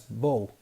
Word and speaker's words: bough: For example, bough is pronounced as bow, whereas tough is tough.